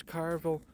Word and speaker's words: Carville: Centrist James Carville.